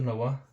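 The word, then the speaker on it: know: है ठीक है एक और देखते हैं दोस्तों नवा नवा हो गया हमारा नो के एन ओ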